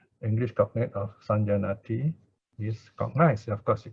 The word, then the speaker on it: saññāti: Then the verb, okay, the verb for saññā, perception, is saññāti, all right? Saññāti. Now here it is basically saṅ, but before the J, it becomes ña, so easier to pronounce.